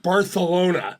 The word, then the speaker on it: Barcelona: It's pronounced Barcelona.